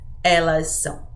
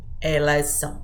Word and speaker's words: elas são: conjugation starts with s you can just combine those sounds together and say Elisa same thing with Eliza Eliza you just combine S and S okay you can do